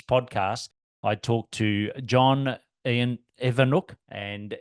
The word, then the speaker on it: Ewoniuk: and in this podcast I talked to John Evano and it's spelled e w n i UK so that's why I sort of paus for a moment but Evano is how you pronounce it and he's from a wonderful business